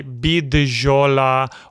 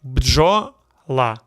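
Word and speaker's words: бджола: Americans and foreigners try bidjola or bujola. Wrong. Correct way, bjola. Bdjola. Bджола. No vowel between B, D, and Ž. You say them together.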